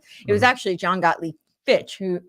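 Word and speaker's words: Fichte: thesis antithesis synthesis it was actually John gotle Fitch who f is how it's pronounced who talked about that and uh then fika was who showed Hegel who's often attributed to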